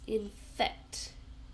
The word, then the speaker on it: infect: Two syllables. infect. So we stress the second one infect.